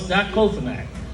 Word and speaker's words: diclofenac: Only took me about 4 fucking years to figure out how to pronounce it. I'm like, what's that? That's something? Clavicle? What is that? So it's diclofenac.